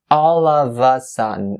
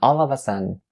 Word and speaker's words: all of a sudden: keep in mind that you should connect all the final sound together with the upcoming word in order to make this phrase flow as if you are pronouncing just one word.